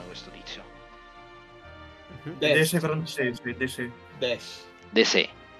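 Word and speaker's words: Desaix: Così facciamo il villaggio e De Sei. Come si pronuncia questo tizio? De Sei francese, De Sei.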